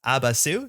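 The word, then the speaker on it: Abaasy: This is actually pronounced Abasu, says the pronunciation guide.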